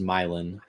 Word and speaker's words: Milan: any hail wondering according to chat Milan is pronounced milin milin m y l i n m y